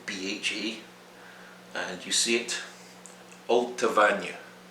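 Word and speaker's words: Allt-a-Bhainne: and you see it altavanya altavanya alta vanya some people say ultra vein as well both are acceptable six it's not ochroisk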